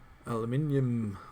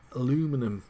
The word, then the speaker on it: aluminium: probably a better idea aluminium or aluminum as the Americans say I don't really care